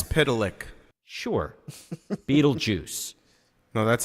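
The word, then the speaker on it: Mxyzptlk: You know, you said it's Dune Mixelplick. I would have gone, yes. Mix I know. it's Pitalik.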